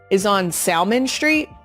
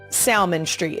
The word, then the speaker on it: Salmon Street: Polish Meats is on Salmon Street, Salmon, as in the fish, but it is Salmon Street.